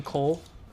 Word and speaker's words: coL: for them I think you could safely call him Cole I would wager okay it's one syllable it's nice and easy yeah um we're gonna